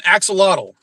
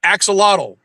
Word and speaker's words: axolotl: mad at us for pronouncing it axolotl. Because that's not how they Okay. pronounce it in Mexico, where the animal actually lives. They call it an ajolote. Yeah, It's I'm American. spelled exactly the same. It's just pronounced differently.